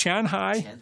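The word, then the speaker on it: 前海: It's Qian, Qianhai. I thought it was Shanghai, but it's Qianhai.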